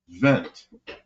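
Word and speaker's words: Wendt: that was Gunter went Gunter vent pronounced vent like a w and he was the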